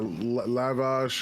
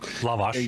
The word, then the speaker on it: lavash: They're like, "Uh, lavage or lavage or something?" Lavash gota put a black twist to it. Yeah. He He pronounces it wrong on purpose to piss me off.